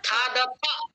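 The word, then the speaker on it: खादथ: সহ অন্নম খাদতি, তৌ অন্নম খাদতহ, তে অন্নম খাদন্তি, ত্বাম অন্নম খাদাসি ইউয়াম অন্নাম খাদাথাহ ইউয়াম অন্নাম খাদাহ খাদাথ খাদাথা এই খাদাথা। থায়ের উচ্চারণটা জোরে করবেন।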